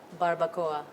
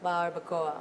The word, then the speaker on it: Barbacoa: How do you pronounce that? Barbacoa. Is it nice? Barbacoa.